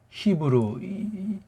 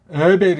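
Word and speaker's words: עבר: 그래서 영어로도 히브루 이런 말이 생겨난 것 아니겠냐고요. 어? 히브루 괜히 폼 잡지. 히읗자가 없어요. 이응자예요. 이응자 목구멍 안에 나오는 여린 히읗자. 그러니까 에베르 이렇게 해야 되는데 이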